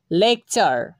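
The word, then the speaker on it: lecture: কে দেখতে পাবো তখন আমরা টি ইউ এর উচ্চারণটা চ এর মতো করব। চলুন আমরা আরও কিছু উদাহরণ ফলো করি। লেকচার, লেকচার।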